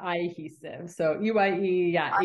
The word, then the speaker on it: Eyehesive: Yeah, it's like cohesive, like sticking together, but Eyehesive.